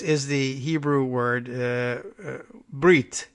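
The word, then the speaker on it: ברית: But Subir helpfully points out that Briss is the Hebrew word. Brit is the Hebrew word. Briss is the, a strange, it's an Ashkenazic pronunciation of Brit.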